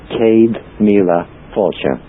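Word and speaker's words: Céad míle fáilte: top right as you come in it says Kad La fure say it again slowly Cade Mila fure Okay Cade is 100 N is a thousand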